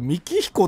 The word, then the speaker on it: 幹比古: と思いますシガえこれ三彦って読むんですね自分もねずっとなんだろうやひこヤひこじゃねえヤひこってなんか